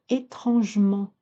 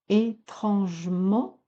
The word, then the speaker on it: étrangement: langage parler et courant, ne pas dire étrangement. Étrangement, vous n'auriez que trois pieds, trois syllabes. Étrangement, vous en avez quatre.